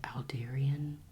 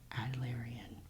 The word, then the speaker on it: Adlerian: I pronounced it Aldarian, and it's actually Adlerian.